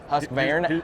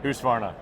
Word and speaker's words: Husqvarna: So, and Husqvarna, is that how you want me to pronounce it? Yeah, you can call it whatever. Husqvarna? Husqvarna? Husqvarna.